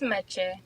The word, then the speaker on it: Meché: Did I say your name right? Is it Meche, or how do you say it? Meche? Because you have the accent over the E. It's Meche, yeah.